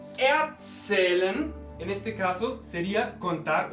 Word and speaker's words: erzählen: Ich erzähle, no separable. Prefijo no separable, ¿cómo es? Ich erzähle. El acento se mantiene, en este caso, en la segunda sílaba.